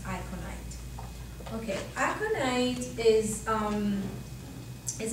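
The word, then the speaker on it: aconite: t-u-m akon tune and it's pronounced iconite okay acronite is um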